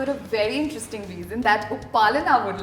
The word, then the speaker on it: Upalina: U-pa-li-na. Upalana. Simple. That is how you pronounce her name.